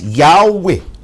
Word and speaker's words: Yahweh: inclination nila humihilig tayo sa pananaw na ang bigkas yahwe Ayan ang mas tamang paraan o wastong paraan